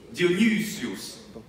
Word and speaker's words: Dionysius: Dionysius. Dionysius. Questo mi fa ridere quando pronunciamo correttamente, perché ebraico è tanto carino secondo me.